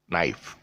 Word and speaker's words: knife: got like words like knife which is not pronounced as kenai if it's pronounced as a knife n-e-n-i-f-e uh this one's very interesting words uh